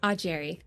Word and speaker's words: Augeri: Ajerry here with me and I know I butchered her name. So, how do you properly say your last name? A Jerry.